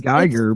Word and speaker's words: Gieger: I'm just trying not to mess that up because I mean, I want to say Geiger, but it's not a thing. Because that's how it's spelled, but it rhymes with the N word.